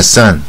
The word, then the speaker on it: son: 是 sun, sun, 带耳的音。My son, 太阳跟儿子都同样